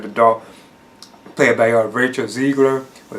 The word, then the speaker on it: Zegler: grows into like the adult, played by Rachel Zegler. Or Zegler, I think that's how you pronounce her name.